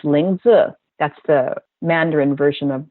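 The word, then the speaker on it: lingzhi: is the it's l i n g zhi pronounced lingu that's the Mandarin version of the herb this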